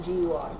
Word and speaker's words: GUI: It has very eye-pleasing GUI like Mac OS X, like Leopard does. No, Leopard is Mac OS X Leopard. And has about like a good eye-pleasing GUI, or GUI, it's pronounced.